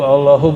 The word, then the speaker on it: Allah: lagu India ya Allahu Allahu bukan itu zikir lafaz Allah Coba baca Allah sudah bacanya Allah ya Al Allah itu bukan dia lam ketbu lam Allah harus disambung bukan mati dia Allah secara huruf alif